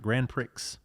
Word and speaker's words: Grand Prix: 1969 Pontiac Grand Prix. Yep. Right? I think that's how you pronounce it. No, pronounce it right. Grand Prix.